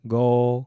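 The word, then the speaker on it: 五: We then discussed the number 5, which is pronounced go, followed by 6, which is lak.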